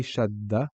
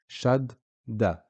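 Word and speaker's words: شدّة: If we look here, when we say Shaddah, you can hear the dal being pronounced twice, or the d sound being pronounced twice. Shaddah. Shaddah.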